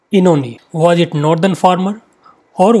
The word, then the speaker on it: Oenone: Mark the pronunciation of this title. It is Oenone. Oenone.